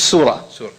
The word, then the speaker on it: surah: There are 2 kinds of, I'm not going to say chapters, I'm going to get you guys used to another term, it's surah. Surah, okay, S-U-R-A, if you're going to spell it out, S-U-R-A-H.